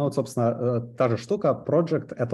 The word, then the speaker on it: project: Он дает мне метод project, или project, наверное, правильное ударение делать в данном случае, который, опять же, как линзы из функционального программирования.